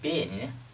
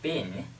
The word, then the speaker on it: been: Chữ been này các bạn nhớ là trong tiếng Anh thì chúng ta đọc là been, nhưng mà trong tiếng Anh Mỹ chúng ta đọc nó là y ngắn, chúng ta đọc là been, been.